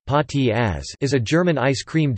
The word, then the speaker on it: Spaghettieis: Spaghettieis (German pronunciation: Pâtis as) is a German ice cream dish made to look like a plate of spaghetti.